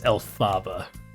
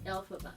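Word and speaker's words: Elphaba: I think this is Alaba. I'm a total Huh? Alphaba. Alphaba. Yeah, I'm just saying Alaba.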